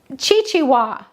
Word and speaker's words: Xigua: I didn't know. So we looked it up. And it's pronounced Chichiwa. So it's not a X and it's not a Z, it's a Chichiwa.